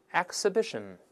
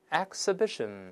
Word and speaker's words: exhibition: ，我们大声来一遍 exhibition， exhibition，这是把哎变成哎。